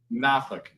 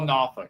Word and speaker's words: Norfolk: It's Nafk. What is it? Nafk. That's Nafk. Nafk. Norfolk. They call it Noffk.